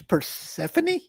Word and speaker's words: Persephone: I think it's Persephone. Okay, that sounds something like that. Persephone, yeah. It's not like Persephone, like New Jersey. Parsippany.